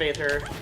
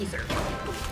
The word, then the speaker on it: Aether: It's Rivals of Aether, except for if you are Dan Fernacey, who pronounces it Rivals of Ether. And it's really funny because he's the only person on his entire dev team who pronounces it that way.